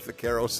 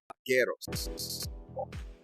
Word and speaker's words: vaqueros: So I use the B sound for the B, which is proper, and she doesn't like it. She wants me to say it like V, like vagina, so I'll like say vaquero, whatever, right?